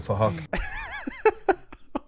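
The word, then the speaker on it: Phuc: His name is Fahok, but it's spelled with a PH, so it sounds like Fahok.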